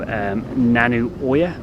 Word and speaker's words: Nanu Oya: LA that went all the way through to nanu Oya that's how you pronounce it I've trained lasted about three hours